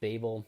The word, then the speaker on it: Babel: everyone yet so that is typically done with Babel Babel and pronounced however you want it's yeah they call